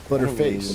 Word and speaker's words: Butterface: Butterface name. Butter ball. No, no, no, no. It's uh, it's pronounced butterface. like butter that you cook with.